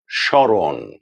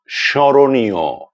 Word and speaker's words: স্মরণ: যদি শব্দের প্রথম বর্ণের সঙ্গে মফলা যুক্ত হয় তাহলে সে মফলা বা ময়ের কোনো রকম উচ্চারণ হবে না, তবে মফলা যুক্ত বর্ণের উচ্চারণে খানিকটা নাসিক্য প্রভাবিত উচ্চারণ হবে, অর্থাৎ একটুখানি নাকি স্বরে উচ্চারণ করতে হবে।